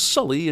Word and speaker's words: Sully: still called native americans why does she pronounce his name as sooly when she just heard him say it was sully and she hasn't ever